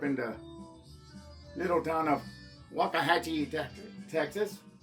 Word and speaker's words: Waxahachie: Anyway, my name is Jesus Hernandez, originalmente from San Antonio, but grew up in the little town of Waxahachie, Texas. Real pronunciation is Waxahachie, Texas.